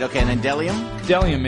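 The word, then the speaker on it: bdellium: right okay and then delium delium it's a it's a gum-like tree resin starts with a silent B and then Zar yeah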